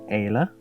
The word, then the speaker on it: ala: And the ala, A-L-A. That's how to pronounce that bit.